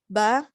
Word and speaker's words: ب: Okay, ba, it's a strong letter, pronounced by closing just 2 of your lips.